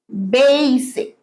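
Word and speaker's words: basic: লার বেসিক of English এটা বল বেসিক ডেই এর মত ব্যাপার লেজির মত ব্যাপার বেইসিক বেসিক I need to learn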